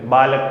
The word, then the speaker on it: बालकः: और इस विसर्ग का जो उच्चारण है वो ह के समान होता है। ठीक है, ह के समान इस विसर्ग का उच्चारण होता है।